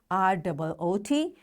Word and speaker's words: route: R-O-O-T, R-O-U-T-E. We pronounce it likewise, root.